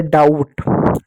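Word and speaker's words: doubt: तो यहां पर बी के आगे टी है। इसलिए बी साइलेंट होगा। और टी का क्या होगा? ड पढ़ेंगे। तो हो गया डाउट।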